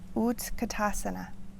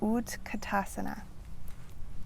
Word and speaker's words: Utkatasana: You'll hear some people say Utkatasana. Utkatasana. Say that one more time. Utkatasana.